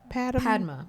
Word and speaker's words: Padma: And then lastly, we had Padma. Is that how you say her name? Padma.